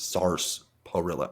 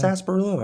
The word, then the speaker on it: sarsaparilla: sarsaparilla. I go, where's this R? SARSAPARILLA. It's weird. It's like sarsaparilla.